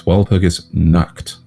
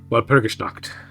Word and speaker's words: Walpurgisnacht: It's actually easier to pronounce that than you think, Xeno. It's Walpurgisnacht. Walpurgisnacht.